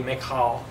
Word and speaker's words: Michal: I think Greek in the Hebrew would be Michal. It's not Michelle, it's Michal. You got to kind of haka.